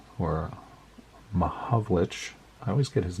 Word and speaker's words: Mahovlich: Sid Smith and Frank Malovich, or Mahovlich. I always get his name wrong.